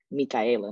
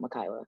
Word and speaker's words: Mikaela: my name correctly correctly like mikaela not mikaila i have people who